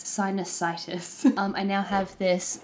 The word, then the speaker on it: sinusitis: sinus I'm trying to work out how to pronounce it it's it's not sinusitis the lexical stress is is not on the IIs bit it's sinusitis um I now have this Wonder beautiful nasal